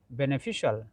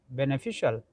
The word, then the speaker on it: beneficial: letters and then finally if you see there is CIAL, in this case we have to pronounce like shall, shall. So beneficial, beneficial, beneficial, beneficial, official, official, officially, artificial, artificially, not artificially, not shall.